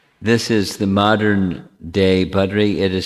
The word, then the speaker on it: Badri: Well, Badri, we make it shorter without an extra syllable or vowel. Badari becomes Badri.